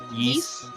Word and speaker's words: Ys: Yeast. It was a JRPG. It's Really? literally YS, but you pronounce it yeast.